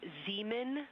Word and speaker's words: Zeeman: We believe that that is Zeeman Crater. Zeeman. Okay, and can you say the first letter? I may be pronouncing that wrong.